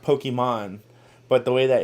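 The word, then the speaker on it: Pokimane: is her her name is supposed to be pronounced Pokemon but the way that it's spelled nobody got that it was supposed to do that so they just call it pokem man and then there was Valkyrie and a a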